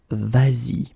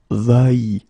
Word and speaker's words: vas-y: to modify it and put this s here just to get the sound vas-y instead of va-y.